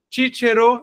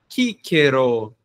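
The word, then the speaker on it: Cicero: alguns pontos de distinção o c Às vezes tem um às vezes não tem um som de k então o nome do Marco tullios tiero tchero na pronúncia que nós utilizaremos mas Kero na pronúncia constituída existem essas distinções tá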